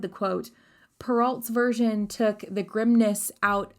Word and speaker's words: Perrault: name and the pronunciation because charles perrault is a frenchman it is pronounced perrault and not pearls can you say scar